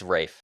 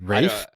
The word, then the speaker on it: Ralph: It's Rafe. Yeah, he said. Rafe. Yeah, apparently it's Rafe. Rafe? Yeah, apparently it's pronounced Rafe.